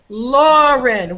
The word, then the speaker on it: Lauren: Lauren isn't it yeah so Lauren which syllable is stressed oh l that's right the first syllable and nasat which syllable